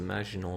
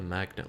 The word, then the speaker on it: Maginot: Jake, it's the Maginot line, not the magnet line.